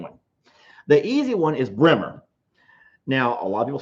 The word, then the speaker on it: Brahma: say the second one the easy one is bremer now a lot of people say brahma bremer same thing b-r-a-h-m-a brahma did i spell that correctly so that's the easy one and